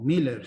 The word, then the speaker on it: Miller: que no conozca el apellido Miller o Miller si lo decimos como los ingleses lo pronunciaban No aquí tenemos una